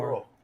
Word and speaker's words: burro: One of my daughters is like really You have to roll your R's when it's a double R. Burro.